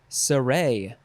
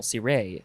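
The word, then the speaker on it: cire: in this episode is surrey or c ray you have to emphasize the second syllable c ray suray it is spelled c-i-r-e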